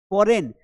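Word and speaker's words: foreign: फॉरेन, अब इसकी spelling बड़ी कितनी कठिन है, फॉरेन, क्योंकि जी साइलेंट आ रहा है एन के पहले।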